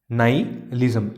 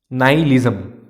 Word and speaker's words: nihilism: Nihilism. H is silent. Nihilism. I am repeating once again. Nihilism.